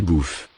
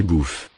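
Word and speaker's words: bœufs: Des bouffes. Des bouffes. For plural, add the ending. S. Final S is not pronounced. Des bouffes.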